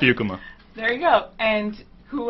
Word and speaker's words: Beukema: It's Beukema.